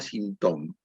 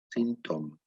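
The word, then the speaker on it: sinthome: Y ese cuarto nudo se llama sintoma, que se escribe S-Y-N-T-H-O-M-E, sintoma, que se parece mucho a la palabra síntoma, que en la práctica,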